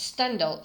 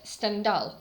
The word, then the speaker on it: Stendhal: I used English stress stand out say but it's not correct stand out is the correct pronunciation because in French language stress is at the end of the word so he was actually